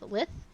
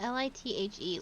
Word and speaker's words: lithe: I always pronounce lithe, which is like to be graceful and stuff, lith, and that is not how you say it. Oh. Yeah, L-I-T-H-E, lithe.